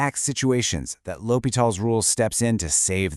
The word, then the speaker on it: L'Hôpital: First off, how do you say it? It's L'Hopital. Got it?